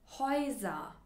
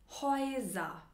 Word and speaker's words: Häuser: Haus, Haus, Ä plus U, Oi, Oi, Häuser, Häuser, E plus U, auch Oi, Oi, Europa, Oi und Oi haben die gleiche Aussprache.